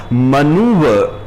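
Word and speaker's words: manoeuvre: मनूवर, इसमें जो र bracket में डाल के रखा है हमने, उसकी आवाज को पूरा उच्चारित नहीं करना है, मनूवर नहीं कहना है, मनूवर। र को हल्के से प्रोनाउंस करना है।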